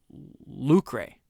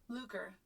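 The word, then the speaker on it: lucre: Let me make sure I I read it and I say lucray. That's not how you pronounce it. It is lucer. Lucer, according to Google Translate.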